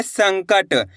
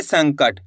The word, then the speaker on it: संकट: साम अनुस्वार की मात्रा सन, क, ट, तो मिलके बन जाएगा संकट। कैसे पढ़ेंगे? संकट। यानी कि ना का उच्चारण तेजी के साथ निकालेंगे, संकट।